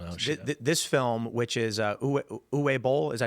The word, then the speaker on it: Uwe Boll: This film, which is Uwe Boll, is that how you say his name? Uwe Boll.